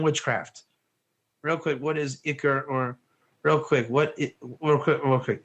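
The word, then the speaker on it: עיקר: Is it Iker or it's Ikar? If you're gonna Ikar, I would, if you want to be really yeshivish, it's this. If you want to pronounce it correctly, it's this. It's really an Ikar, but it's really an Iker. If you're talking to a rabbi, it's an Iker.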